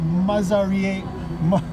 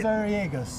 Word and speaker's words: Mazariegos: And I've got Cesar Mazariegos. Yeah, you almost had it. You almost had it. Commit. Mazariegos.